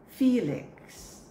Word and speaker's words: Felix: Next word, I hope you're right. Felix. Felix. So it's not fair, but fee.